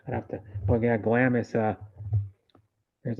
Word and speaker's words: Glamis: like Glam glammer Gamers or glammer yeah how pronounce it Glamis what Glamis glamas yeah wow g l a m i s Glamis Glamis Glamis is in uh Al alonis